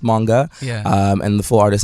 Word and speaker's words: Moonga: socials basically yes the socials um so it's pronounced manga um and the full artist name is manga